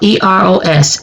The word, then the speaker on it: Eros: It's spelled E-R-O-S, eros. It's a Greek word.